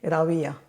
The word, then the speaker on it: Rawia: Oh, they say they think it's a V, but it's not a it's not a it's more like the English pronunciation of the W.